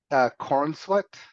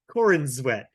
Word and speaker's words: Corenswet: Am I pronouncing his name correctly? Because it sounds terrible. Cornsweat? Corenswet. It either sounds like you're saying my Corin's wet, or it sounds like Corin is sweating, like someone named Corin and they're sweat.